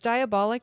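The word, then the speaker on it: Diabolik: So it's diabolic, but it's spelled D I A B O L I K LC.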